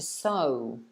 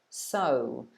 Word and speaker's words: sew: So this action that this person is doing is sewing, to sew, sew. Sounds exactly the same as S-O, so.